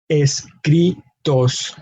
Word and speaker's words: escritos: Acentos escritos. So again, the emphasis in the word escritos is in that second to last syllable. Cri is where we have our emphasis.